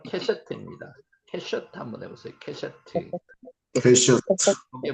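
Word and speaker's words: קשת: 여기서는 지금 카시트라고 발음되는데 실제로는 캐셔트입니다.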